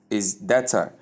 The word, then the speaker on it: data: And in the second pronunciation, dater. Dater. That is The short or sound, the short R sound and the schwa sound at the ending, both are acceptable.